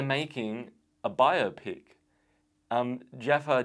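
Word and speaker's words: Jaafar: a bio pick um Jaffa Jackson I think that's how he pronounced his name Jermaine's son is playing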